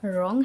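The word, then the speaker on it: wrong: ये हमारा ऑनर है, इसमें एच साइलेंट है। ये हमारा निट है, ये हमारा रॉन्ग है, ये हमारा हेयर है और ये जो है हमारा वो रिंकल है।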